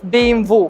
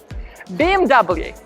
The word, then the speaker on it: BMW: would say exception because in italy this car this car it's called bimbo case don't say this internationally speaking this car is bmw bmw and that's it german car ignore italian